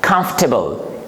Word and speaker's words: comfortable: Word number three we have this is, in this word again, the letter R, it is silent and we pronounce comfortable, comfortable, comfortable, not comfortable.